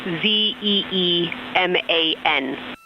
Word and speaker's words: Zeeman: We believe that that is Zeeman crater. Zeeman. Okay, and can you say the first letter? I may be pronouncing that wrong. What's the first letter of that word? Zulu. It's Zeeman.